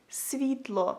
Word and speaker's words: світло: So if you want to say light in Ukrainian, you would say it like світло, світло, світло.